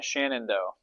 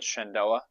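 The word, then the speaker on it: Shenandoah: Shann Shannondo, I I apologize if I'm getting that name wrong. Shandoa. Shandoa. Yeah, I apologize uh for getting that wrong.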